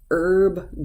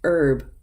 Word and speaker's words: herb: the H is silent you have some words where the H is silent and herb garden in American English we say this herb is s silent H and herb and honest mistake honest